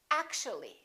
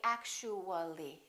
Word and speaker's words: actually: and we say basically take a look at this one actual three syllables actual but if we add the ly like here this disappears and we say actually actually we don't say actually there are some more